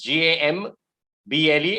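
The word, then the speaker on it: gambol: of that word campbell exactly the same pronunciation two different words g-a-m-b-l-e anyone can look it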